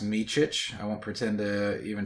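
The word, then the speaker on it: Micić: And, uh, it his his last name is pronounced Michich.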